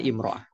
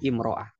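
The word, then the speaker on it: امرأة: Di sini almarah biduni al bacanya imroah. Kalau pakai al bacanya almara kalau tanpa al imraah.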